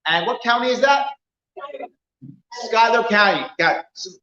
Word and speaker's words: Schuyler: aren't i yes and what county is that skyler county got it's spelled schuler but remember as i told you